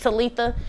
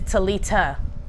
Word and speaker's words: Talitha: arise some of y'all name is talitha but that's not how they pronounced it i thought it was pronounced talitha but i know the name is relevant uh but it's talita like uh talita calum